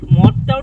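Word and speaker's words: مدّ: বিশুদ্ধ এবং সহি উচ্চারণ হলো মাদ, আর অশুদ্ধ উচ্চারণ হলো মদ, কিন্তু দুইটার কাজই একটা।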